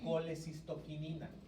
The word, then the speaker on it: colecistoquinina: de hormona se llama colecistoquinina. Se escribe como colecistocinina, también la van a encontrar en los libros, pero se conoce como CCK o también colecistoquinina.